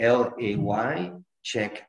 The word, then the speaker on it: Ledaig: we use pizza it's laycheck um which is pronounced lay a l a y check as in checkmate so laycheck which is